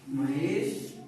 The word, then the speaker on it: महेशः: महेश 5 दिनानि लिखति। आम सत्यम। महेशः 5 दिनानि लिखति। महेशः विसर्ग उच्चारण होना चाहिए।